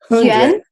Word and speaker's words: Yuan: Yuan. HunYuan. Yeah. It's you have the same problem like me with the epsilon. I also pronounce like more similar like j. HunYuan. Yeah. it's like it's yuan.